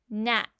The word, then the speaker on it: gnat: Now people used to say gn, but we have dropped that G sound and just say N even though we spell it with the G.